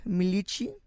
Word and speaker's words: Milici: early and she goes by the name Michi and I hope I said that correctly thank